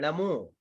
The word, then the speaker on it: णमो: आपने सबसे पहले ही गलत कर रहे हो, नमो बोल रहे हो, नमो नहीं है णमो।